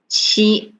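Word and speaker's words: 七: we read as e then number seven we read as chi so e and she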